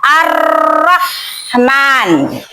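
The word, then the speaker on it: الرَّحْمٰن: Maka huruf lamnya itu dibaca dilebur ya. Dilebur ke huruf syamsiah itu. Kayak Ar-Rahman.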